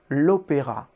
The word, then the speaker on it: l'opéra: Quick question, how would you say the opera, given that opera is opéra in French? L'opéra.